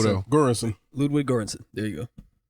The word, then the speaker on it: Göransson: Göransson. Ludwig Göransson. There you go. No, that O got like a go in it. Göransson.